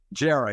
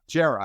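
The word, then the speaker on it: Djere: Gera, yeah. Gera. I always want to use the D.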